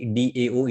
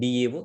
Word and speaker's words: DAO: it comes to employee Dao the word Dao stands for data access object and few people pronounce this one as Dow so alog together we